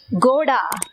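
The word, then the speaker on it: घोड़ा: Okay, next கோடா கோடா, அதாவது GH சவுண்டுல நம்ம அதை உச்சரிக்கணும்.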